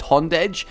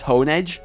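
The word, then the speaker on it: Honedge: All right, so with me the whole the whole Shaba Castle thing and Hond. I realize technically it's Hone Edge, but honestly, I just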